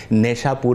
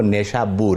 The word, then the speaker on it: نیشابور: بھی کہا جاتا ہے، اور ہمارے اردو کے اندر اسے نیشاپور بھی کہہ دیتے ہیں اور عام لوگ اسے نیشاپور کہہ دیتے ہیں. تو عربی میں اس کا جو صحیح تلفظ ہے وہ نیشابور ہے.